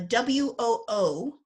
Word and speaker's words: WoO: beethoven scholarship there's a there's a w-o-o number that we associate with non-published works of beethoven and beethoven scholars like to call them woo numbers after in german it's verka